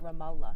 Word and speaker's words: Ramallah: I saw a 13-year-old Palestinian boy shot in the head by a rubber bullet from an Israeli military in Ramallah. Just pronounce it Ramla.